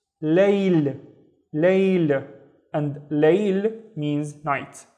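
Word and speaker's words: ليل: I have another la with no vowels, so it's layl, layl.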